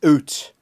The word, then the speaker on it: out: So, but the way you pronounce out is oot, okay? And a boot. That's how it's done. That's how we say it.